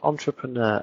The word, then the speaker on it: entrepreneur: one isn't wrong uh words like entrepreneur emphasis on the last syllable because it came from another language very very good point